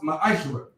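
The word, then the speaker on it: מעשר: It means 10th in Hebrew and is pronounced ma'ashra.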